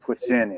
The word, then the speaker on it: poutine: No, it's French. Poutine.